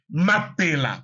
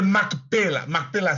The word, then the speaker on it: Mapela: a le quartier de Mapela Map c'est c'est voilà la vraie prononciation Mapela. Mapela. Les Congolais qui m'écoutent savent que c'est la vérité. Mapela au lieu de Maela c'est quoi ? C'est francisé Mapela.